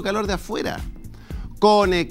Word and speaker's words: Kone: Kone, Kione o Kune, no importa cómo lo pronuncien, no es aire acondicionado o calefacción, es Climatechnic, con un clic al alcance de tu mano.